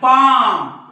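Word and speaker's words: palm: हे बालम नाही बाम हे पाम नाही पाम म्हणजे इथं सुद्धा एल सायलेंट आहे मग हा एल केव्हा सायलेंट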